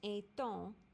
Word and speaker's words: est-on: Est-on is pronounced est-on since you make a liaison.